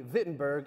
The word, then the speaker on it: Wittenberg: and you're going to see them spelled with W's, and I'm going to pronounce them with a V sound.